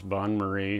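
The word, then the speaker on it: bain-marie: bon Murray up here it says bon Murray that's how you pronounce that in other words the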